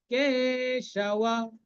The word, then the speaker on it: কেশব: বিপরীতানি কেশব, বিপরীতানি, রি এবং তাটা দীর্ঘ, কেশব, কেশব, কেটা দীর্ঘ।